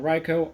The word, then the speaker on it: Riko: I am Riko. Yes, it's Riko, even though it's spelled R-I-K-O. It's not Rico. Think of the Pokemon Riko.